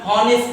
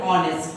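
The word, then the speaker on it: honest: এরকম যখন কোন ওয়ার্ডের শুরুতে এইচ থাকবে, এইচটা সাইলেন্ট বা উজ্জ্ব থাকে, তখন দেখবা আমরা হনেস্ট বলি না, আমরা বলি অনেস্ট।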